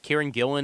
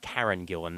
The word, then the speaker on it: Karen Gillan: I mean, with Kieran Gillan in there with her with her shaved head and sorry, Karen Gillan, not Kieran Gillan. Got to got to pronounce that properly there.